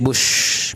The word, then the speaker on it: Buch: भी पढ़ा, Madhabi Puri, BUCH, बुश भी बोल सकते हैं, बश भी बोल सकते हैं। प्रोनाउंसिएशन में कोई मैटर नहीं करता, इंडियन लेडी है।